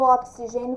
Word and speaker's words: oxigênio: escritas com x mas qual que é o som do oxigênio quando eu pronuncio é o som do CS o CS Então vou